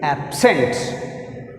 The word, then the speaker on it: absent: The word is absent. Second syllable is sent. That's why you put stress on sent.